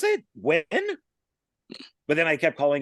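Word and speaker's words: Nguyen: It's a very well known and used name in Vietnam, and Yeah, I this actually is know people who are the Wins.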